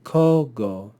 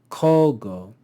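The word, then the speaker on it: cogo: Here we see kogo, kogo. The first syllable of any two-syllable word will be accented.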